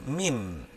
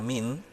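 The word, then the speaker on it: מין: La palabra género en el hebreo es la palabra min. Se escribe M-I-N, min.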